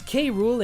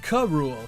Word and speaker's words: K. Rool: Rool's name is spoken verbally, being pronounced as K. Rool in English and in Japanese as King Cruel.